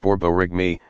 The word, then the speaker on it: borborygmi: caused by moving gas borborygmi pronounced borborygmi a word that sounds a lot like the noises your stomach makes when it's empty you what are some